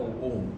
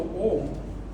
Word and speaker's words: Om: what they say, Actually, the Om consists of 3 syllables. And actually, it's like the sound comes like as though a plane that's running down the runway of an airport.